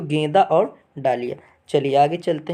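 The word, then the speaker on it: dahlia: ठीक, गेंदा और डालिया, ये गेंदा और डलिया बोला जाता है। कहीं कहीं अलग अलग जगह पे अलग अलग इसका प्रोनाउंसिएशन लोग करते हैं, अलग अलग शब्दों में बोलते हैं।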